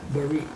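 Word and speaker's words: berit: So to give you an idea of what covenant means, and it's the Hebrew word barit, used 264 times. Will you spell it, please? Yeah, B-E-R-I-T, barit.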